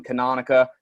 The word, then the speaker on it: Canonica: a weird last name canonica the way i like to get you to memorize it or remember it is it it rhymes with harmonica so those of the